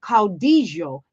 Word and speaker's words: caudillo: a Familiar Figure of Caudillo in Trump. Now, caudillo, I hope I'm pronouncing that correctly. It's a Spanish word.